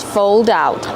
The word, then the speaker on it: fold out: Kevin, how do you pronounce fold out? Fold out. Use a long O like old and cold plus a dark L.